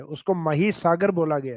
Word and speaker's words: महीसागर: हालांकि English title तो वो माही लगता है अपने को क्योंकि स्पेलिंग वही है माही। लेकिन उसका हिंदी प्रोनाउंसिएशन लिया गया महीसागर। तो अपने को महीसागर ही याद रखना है।